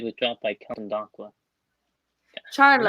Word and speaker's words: Charlo: Charlo. Am I pronouncing that right? Yeah.